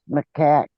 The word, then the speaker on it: macaque: It's pronounced macaque.